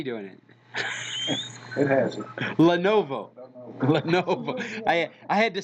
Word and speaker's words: Lenovo: Novio. Yeah, right. Now you got me doing it. It has it. Lenovo.